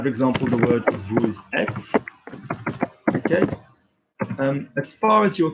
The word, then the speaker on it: êtes: example, the word vous êtes, okay, As far as you're concerned, as English speakers learning French, I just want you to think of it as the short one, vous êtes.